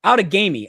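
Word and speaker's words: Outagamie: one but this is like you know outagami out of gamy out of gamy it's how pronounced out and hong hong is ahead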